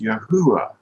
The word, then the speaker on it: Yahuwah: And then I said, this is the equivalent of our letter Y, you know, and this is an H or a hey, and this is a U, you know, oo, and this is another H, and it's pronounced Yahuwah.